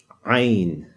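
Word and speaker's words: ع: you pronounce this uh you know the letter a if you say that but tighten your throat when you say it so just not just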